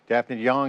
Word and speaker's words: Daphne de Jong: it together through media dfan young is here founder and CEO of Ven dfy great to see you did I get that right y you got it right okay all right pronunciation